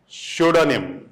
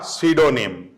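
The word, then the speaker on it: pseudonym: में भी काम आएगा, शूडोनिम, शूडोनिम या सीडोनिम, दोनों ही कहते हैं, दोनों ही प्रोनाउंसिएशन शू ड, शूडोनिम या शूडोनिम, तो दोनों ही सही है।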